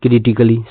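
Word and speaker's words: critically: कहने का मतलब ए साइलेंट है।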